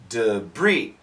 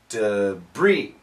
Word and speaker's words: debris: mounds of debris debris this word comes from French we do not say debris we say debris debris so the S is